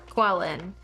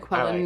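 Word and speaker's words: Qelline: is the mom's name quellen quellen qu q e l l i n e qu I'm pronouncing it Quin because I don't want to deal with trying to figure that one out I mean it's like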